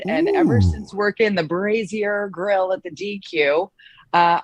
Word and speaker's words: Brazier: a a dairy queen um how did you pronounce it jody brazier right crazier burgers raise your burgers he used